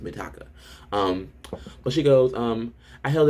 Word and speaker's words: Mitaka: I said that after I read her name, I would start saying it right. But for some reason, I think it's because of Mikasa from Attack on Titan. I want to say Mikasa. Her name is Mitaka.